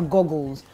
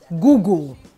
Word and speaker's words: Google: going swimming those are Goggles so next time for the search engine one is Google not Goggle Now this next set